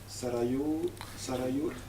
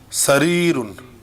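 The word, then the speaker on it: سرير: Sarayur. Sarirun. Sariyur. Sarirun. Sorry. Yeah, that's how you pronounce it.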